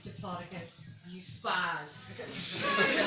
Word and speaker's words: Diplodocus: And he turned around to me with a genuine look of disgust on his face and was like, it's actually pronounced Diplodocus, you spaz.